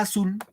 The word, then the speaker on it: azul: sílabas ahora pregunto acá la palabra azul Dónde va el acento en a o en azul azul Cuando digo dónde va la mayor fuerza de voz sobre las profesores su profesor muy bien correcto azul claro decimos alcánzame mi mi